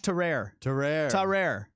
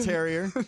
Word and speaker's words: Tarrare: Josh Tarrare. We got it. We got it. Nailed it. Not terrier. not terrier.